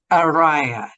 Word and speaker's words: Araya: I have got the wonderful fabulous arot hi well done saying my name thank you